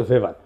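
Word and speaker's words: Weber: না আরেকজন দার্শনিক আছে ম্যাক্স ভেভার এটা ওয়েবার বলে অনেকে এটা উচ্চারণ আসলে ভেভার তার একটা লেজিটিমেসি এবং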